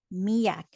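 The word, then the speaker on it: miak: When it comes to the pronunciation of this word, pretend, if you find this helpful, pretend that there's a letter Y in between the I and the A.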